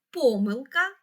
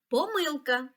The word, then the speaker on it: помилка: наголос у цих словах Отже слово помилка можна наголошувати так помилка і помилка а слово помилки має